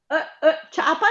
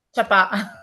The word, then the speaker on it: ciapà: ciapa è una... Ciapà. Ciapà, ecco. Ciapà. Invece la ciapa che cos'è? È la chiappa.